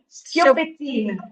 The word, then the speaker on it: Schioppettino: So the right pronunciation is very difficult. It's Schioppettino.